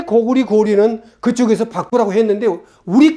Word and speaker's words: 고구려: 그 계단은 거란을 읽으면서 왜 고구려는 고구리라고 안 읽고 왜 고려는 고리라고 안 읽느냐는 것입니다. 자, 한번 생각해 보세요. 고구리 1000년, 고려 500년 동안 리라고 읽었어.